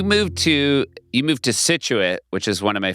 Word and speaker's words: Scituate: Scituate is correct. Yeah. Yeah. Um yeah, Scituate was an interest It was like a big